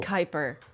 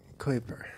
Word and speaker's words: Kuiper: Kuiper. Kuiper. Kuiper belt. Kuiper belt. Oh, you were way off. Well, why is there a U then? You know what I mean? Kuiper belt.